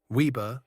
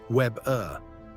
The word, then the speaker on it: Weber: Weber, the weaver. How you say it. Americans say Weber. Germans say Weber. Again, W like a V.